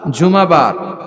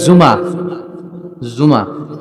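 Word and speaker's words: জুমুআ: বলা উচিত জুমাবার কিবার জুমাবার সূরাটার নাম হচ্ছে সূরাতুল জুম আমার সাথে সাথে বলেন সূরাতুল জুম সবাই বলেন সূরাতুল জুম অনেকে বলে ফেলে জুমা জুমা আসলে আরবিতে শুদ্ধ উচ্চারণটা হচ্ছে জুমু সূরাতুল জুমু আহ এই সূরাতে দুইটা রুকু আছে।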